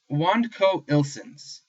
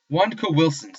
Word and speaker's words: WandCowWilsons: And so my our Yahoo group was called WandCowIlsons was the name of it, or WandCowWilsons. There we go. I pronounced it a little bit wrong.